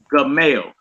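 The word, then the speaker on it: Gimel: Next one is G as in girl, and it's the Hebrew letter Gamel. Gamel. It make a hard G sound.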